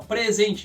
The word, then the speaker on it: present: presente lembre sempre disso então essas palavras que sofre do fenômeno da sílaba tônica flutuante os substantivos vão te sempre a tônica na primeira sílaba já os verbos usar esse aí a mesma grafia é a mesma palavra mas tem outra função na frase a função como o verbo os verbos vão sempre e a tônica na segunda sílaba beleza repete mais uma